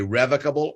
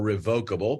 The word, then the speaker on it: revocable: The trust we're going to be talking about today is a revocable or revocable, both pronunciations being correct, family living trust.